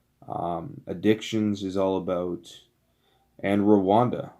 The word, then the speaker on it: Rwanda: is all about, and Rwanda, or if you pronounce it properly, Rhonda.